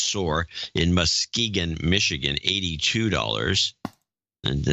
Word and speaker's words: Soar: Ellen Soar, pronounced Soar, in Muskegon, Michigan, $82.